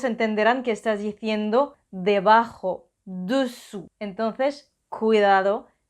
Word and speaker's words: dessous: que estás diciendo debajo, dessous. Entonces, cuidado, dessus, dessous, dessus, dessous. Y una cosita más, la S final de dessus y dessous es silenciosa, o sea que no se pronuncia.